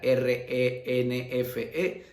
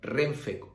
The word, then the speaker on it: Renfe: igual que lo otro porque se pronuncia como una sola palabra no se pronuncia r efe se pronuncia como tal como renfe ovni por ejemplo otro